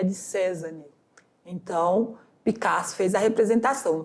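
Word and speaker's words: Cézanne: obra cinco banista de cesane CESAN eu pronuncio assim tá porque tem uma cento então é cesane de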